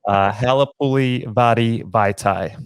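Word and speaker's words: Halapoulivaati Vaitai: Halapuli Vadi Vaitai.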